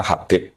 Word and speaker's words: Habib: Itu di harakatnya kitab itu ada yang nulis khubb. L yang benar. Oh, nggih. Yang benar itu bacanya Habib.